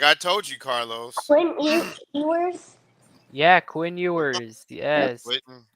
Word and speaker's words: Ewers: Evers. Who? What's his first name? I don't know. Is it Edwards? How do you pronounce the coach?